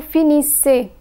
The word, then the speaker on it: finissez: EZ is pronounced as A. Vous finissez.